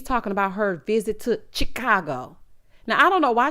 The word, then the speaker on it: Chicago: that way she said I'm saying Chicago he said it's Chicago Chicago she said I thought I was saying it like the Mobsters he said you're not